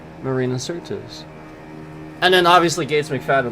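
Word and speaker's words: Marina Sirtis: Marina Cert. Hold on. I always say it wrong. No, it is Certus. Marina Certus.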